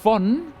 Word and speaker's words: von: Exacto, o sea, V se pronuncia como una F, pero si eso no